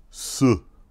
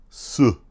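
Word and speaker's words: 四: you're going ooh and this is how you pronounce the number four its Su Su so can you do that su feels weird doesn't it so it's down here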